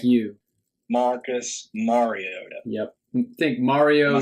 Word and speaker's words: Mariota: Marcus Mariota. Yep. Think Mario Am I saying that Yoda. right? Mario Yoda.